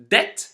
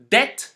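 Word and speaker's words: debt: Deb doubt subtle again this second set is also related to the letter B but this time it's not pronounced for a different reason it is not pronounced because it is followed by the letter t as the end or around the end of a word once more if you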